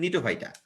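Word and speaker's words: Gnetophyta: এই যে জিএনই না, জি উচ্চারণ হয় না, এটা অ্যাকচুয়ালি নিটোফাইটা।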